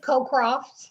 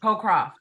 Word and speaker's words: Cocroft: It's Cocroft. Cocroft.